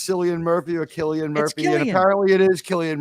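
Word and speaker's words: Cillian Murphy: really can decide whether it's selan Murphy or Killian Murphy and apparently it is Killian Murphy yeah apparently it is Killian Murphy but trust me my is the biggest fan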